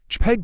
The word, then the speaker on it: JPEG: JPEG, pronounced JPEG, is a compressed graphics format that attempts to reach a balance between image quality and file size.